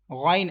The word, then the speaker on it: غ: Ghain, I'm making echo end of this letter, so it is that's wrong. Avoid to make echo end of this letter. You will have to pronounce it ghain.